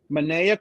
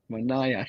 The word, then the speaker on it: Manaea: Manaea. Manaea Mays? Manaea.